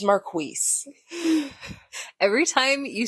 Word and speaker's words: Marquise: It's like you pronounce my name with like a KW sound. Yeah. Like, it just doesn't have a U. So most people, when they see it, they think it's just Keese because that's the way it actually is spelled. Mm-hmm. But thank you, Tyra Cleveland. It is Marquise.